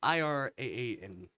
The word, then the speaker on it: Iran: How you pronounce it? I don't know. Iran? It's Iraan.